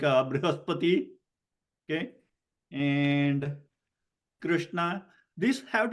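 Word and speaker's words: बृहस्पति: But Brihaspati has to be pronounced Brihaspati, not Brihaspati, not Bruhaspati. When it is, sometimes it is spelled as U, then you say Bru, you can see the lips rounding. And if it is written as R-I, then you have a tendency to make Ri, okay, when the lips are widened.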